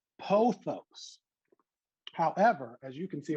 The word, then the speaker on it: pothos: world who say pathos instead of me on the bottom saying pothos. Now, again, pathos, pothos, and we know what this plant is.